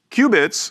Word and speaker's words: qubit: certainly it's the soft Ware not the hardware cubits are quantum bits we pronounce it Cubit and we spell it this